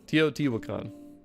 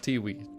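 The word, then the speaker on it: Teotihuacan: Tootwan toot Wakan toot Wakan. Not Tiwi.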